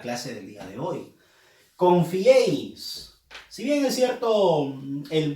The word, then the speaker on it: confiéis: Confiéis. Nadie dice confiéis, no. Dice confiéis. Entonces, confiéis. La E lleva fuerza de voz.